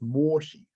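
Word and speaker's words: Mōshi: edition of the mangza which i believe in japanese is pronounced moshi and if you look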